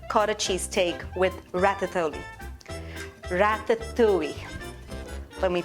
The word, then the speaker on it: ratatouille: Ratatouille. Let me pronounce it the right way.